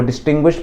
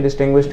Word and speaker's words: distinguished: Spelling क्या है उसकी डिस्टिंग्विश्ड की, DISTINGUISHED, ठीक है, डिस्टिंग्विश्ड। डिस्टिंग्विश मत कर देना, वो अंतर बताना होता है, ये डिस्टिंग्विश्ड है, ईडी लगता है इसमें, ठीक है।